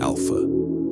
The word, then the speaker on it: Alpha: Alpha, pronounced alpha. The journey begins. You might notice it's not spelled like the Greek letter alpha. That was on purpose. The creators wanted to make sure no one, no matter their native language, would accidentally pronounce it with a PH sound.